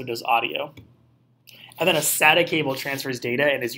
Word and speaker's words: SATA: You can remember that because SATA rhymes with data. SATA sends data.